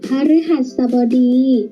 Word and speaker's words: พฤหัสบดี: อ่าน ว่า พฤติกรรม มฤตยู อ่าน ว่า มฤตยู พฤหัสบดี อ่าน ว่า พฤหัสบดี หรือ อาวิ หาด สะ บอ